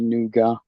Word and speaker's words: nougat: it's supposed to be noua but we all call it nugget we call it nougat we we pronounced the hard T at the end but we get the